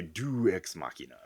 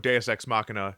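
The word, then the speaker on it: deus ex machina: XM could have yeah sworn some people say do exmachina if they do they they're saying it wrong listeners jump on our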